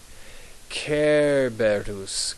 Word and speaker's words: Cerberus: English we say Cerberus but in Latin the C is like a k notice how there are no long marks over these e so we're going to pronounce them like e e e e careus Kus is how you pronounce his name so what I'm going